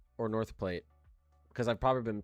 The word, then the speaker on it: North Platte: I know someone knows how to pronounce this. I know someone knows. Someone's got to know. Platte? Okay, good. North Platte.